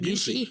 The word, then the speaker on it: Gyllenhaal: So, let's go ahead and talk about your recent your recent work with Jake How do you pronounce it? Gyllenhaal?